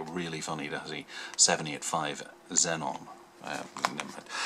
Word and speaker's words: Xenon: could be the 79 Aon yeah but I'll say Zenon because I'm British and I believe that's the way it should proun be pronounced being an X and all that and